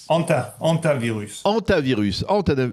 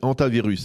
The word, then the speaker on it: Hantavirus: Alors, Hantavirus. Hantavirus. Eh bien voilà, on a un peu quelques difficultés à le prononcer, mais vous allez bien nous l'enseigner parce